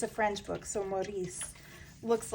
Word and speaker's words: Maurice: It's called Maurice, or Morris.